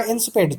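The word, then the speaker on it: insipid: इसका correct pronunciation होगा इंसिपिड, ठीक है, इसको बहुत अच्छे से समझ लीजिए।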